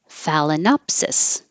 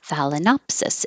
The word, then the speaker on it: Phalaenopsis: Phalaenopsis. I had to look that up, but I knew that the opsis ending, the suffix, would be stressed. Opsis. Phalaenopsis. It's a type of orchid, the Phalaenopsis orchid.